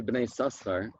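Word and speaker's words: בני יששכר: The sefer Bnei Yisachar, pronounced Bnei Yisachar, even though the name is Yisachar, was written by someone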